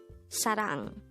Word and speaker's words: 사랑: number 148 sang sang this is a two syllable word the first syllable is sa the second syllable is rang pronounce it with me sang Sarang the word Sarang is